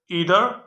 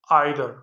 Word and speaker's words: either: इधर और र है य दो तरह से प्रोनाउंस होता है यू कैन से नीदर यू can also say Nadar इस similarly you कैन से इदर यू can also say Nadar नीदर Nadar इदर आइर इ का मतलब है